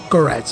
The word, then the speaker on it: Koretz: Koretz, ça s'écrit courette, donc Koretz.